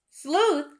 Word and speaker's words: sleuth: pronounce this word sleuth sleuth only has one syllable but we heard the ooh sound and it is spelled with an e u go ahead and write